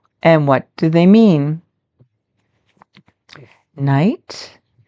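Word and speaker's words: knight: Night. Night. You don't pronounce the K. And what do they mean? Night.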